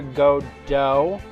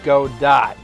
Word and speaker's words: Godot: how it's spelled, is Godot. So, because I'm unfamiliar with a silent T in our English language, but there might be a silent T in one of our words.